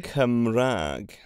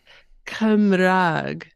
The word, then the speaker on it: Cymraeg: Cymraeg Cymraeg, or Cymraeg. Cymraeg, Yeah, well, Cymraeg or Cymraeg.